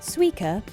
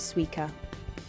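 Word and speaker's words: Suica: 2007 over 20 million suer cars were in circulation suer stands for super Urban intelligent card and the pronunciation is also a pun on the Japanese word from watermelon sua in the logo the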